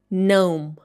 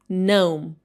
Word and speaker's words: gnome: It should be pronounced like gnome. Gnome.